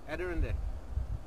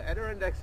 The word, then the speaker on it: Adirondacks: Adirondack. Say it again. Adirondack. Adirondacks. They're the most amazing mountains. There's the Appalachian Trail. There's the Adirondacks are famous for those colours in I didn't know that.